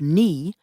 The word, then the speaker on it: knee: words disappeared for example the K and the at the beginning of knee and right were lost the pronunciation of Tu in